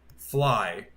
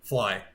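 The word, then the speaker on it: Flii: Because her name is Fly. Spelled like this. F-L-I-I. Boom. Fly. That's her name.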